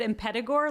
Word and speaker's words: Impetigore: then we'll get into impetigo is how you say it yeah i've heard it said in pedigo like almost they say the t like a d but who knows i